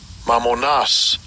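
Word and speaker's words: μαμωνᾶς: It's G3126 and I'll give you a pronunciation. Strongs G3126. Mammonas.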